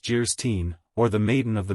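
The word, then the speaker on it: Anne of Geierstein: it for sale and of guyin pronounced jeren or the maiden of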